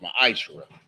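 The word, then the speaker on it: מעשר: It means 10th in the Hebrew, and it's pronounced ma'ashra.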